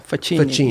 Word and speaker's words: Facchini: Can you pronounce it again? Yeah. Faci.